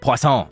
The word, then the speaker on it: Poisson: Poisson. Okay, now I know how to pronounce that.